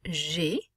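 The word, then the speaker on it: j'ai: me for i have g the a i is going to make an a sound well also notice that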